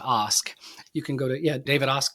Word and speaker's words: Ask: It's actually pronounced ask.